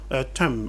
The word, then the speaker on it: thumb: Par exemple, nous avons dans le mot thumb en anglais, qui s'écrit T-O-M-B, quand on a main et puis b à la fin, vous voyez bien que main et b se prononcent avec les deux lèvres. La bouche ne peut pas dire main et b à la fois. Alors la langue anglaise va supprimer le b.